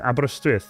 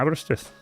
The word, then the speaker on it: Aberystwyth: That's how you say Aberystwyth. Yeah, Aberystwyth. That's how you say it. Aberystwyth.